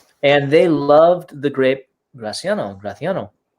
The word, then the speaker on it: Graciano: would be happy to this is our gra graciano in spain they pronounce that graffiano yeah it's indigenous to